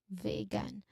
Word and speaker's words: vegan: The pronunciation was the very long e sound here in the first syllable vegan. Um, vegan. Okay. Like the e in short sound vegan.